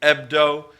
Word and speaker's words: Hebdo: The H is silent. Charlie Hebdo.